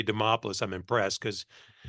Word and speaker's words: Demopoulos: introduction anybody can say Demopolis I'm impressed cuz it rhymes with Acropolis and as far as